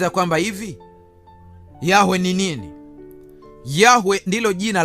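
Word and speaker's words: Yahweh: Yehova ni matamshi ya Mungu Yahwe lakini ambayo yalitegemeana na lugha ya Wayahudi ambao walikuwa wanaishi maeneo ya Ugiriki maeneo ambayo walikuwa wanaongea lugha nyingine. Kwa hiyo wakashindwa kutamka Yahwe ambayo kwa kihia inatamkwa Yah wao wakasema Yehova ndio maana unakuta majina mawili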